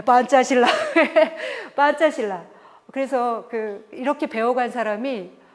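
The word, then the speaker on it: Pancasila: 이데올로기 오브 판짜실라. 이게 바로 판짜실라. 인도네시아 말은요. 스펠링은 알파벳으로 쓰고요. 발음은 된 소리를 내는 거예요. 예. P는 빼로 나는 거죠. C는 째. 그래서 그래요. 판짜실라. 어렵지 않죠? 네, 판짜실라.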